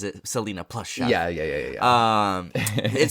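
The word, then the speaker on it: Selena + Chef: Chef Max yeah Selena plus Chef um so Selina and Chef I I know I wish but they she pronounces it Selena plus Chef yeah yeah yeah um it started off back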